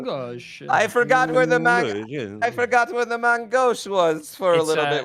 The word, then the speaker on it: main gauche: Technically, the French is main gauche, but nobody is going to say that. Main gauche. I could not find the. Gauche. I forgot where the main gauche was for a little bit, which didn't help me.